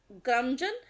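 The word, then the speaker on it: curmudgeon: तो क्रमजन हरभजन।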